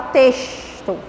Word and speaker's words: texto: Quando o X vem na frente do T, a gente vai ter a pronúncia de S. Texto.